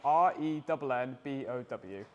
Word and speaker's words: Renbow: spell it a no r e n b o w renbow yeah so it's like rainbow but Ren as in the German for race that's what it's come from so 50% in guards